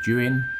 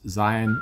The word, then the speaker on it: Zhiyun: There's already so many reviews of the Zhiyun, and I think that is how you pronounce it, not Zion or Zhiyun, Zhiyun Weebill-S